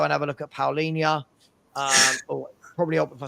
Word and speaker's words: Paulinho: Paul, it's Paul Inya. Paul, spell it Paul and then INHA.